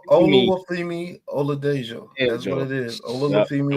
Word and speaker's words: Oluwafemi Oladejo: It's Oluwafemi Oladejo.